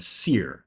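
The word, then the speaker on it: sere: Each stage in succession is called a seral community, or a seer, that's spelled S-E-R-E.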